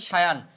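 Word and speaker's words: cyan: সায়ান মানে এটার হচ্ছে উচ্চারণটা হচ্ছে সায়ান।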